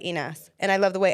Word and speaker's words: Inas: whatever, but because obviously I would say Inez, so people would think it would be spelled INEZ or INES, like the Spanish way or whatever, but like and I love the way Spanish people say my name because they say Ines, which is almost like Inas, and I love the